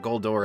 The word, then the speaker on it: Goldor: And I will be pronouncing it Goldor in this episode because I'm sure my